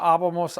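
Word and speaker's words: -ábamos: Aba, abas, aba, abamos, aban. Remember the abamos has the accent on the A because it's 3 vowels back. It breaks the rules.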